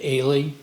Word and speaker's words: Alley: put your name uh alley I pronounce it Ailey Mr Ailey I got it wrong in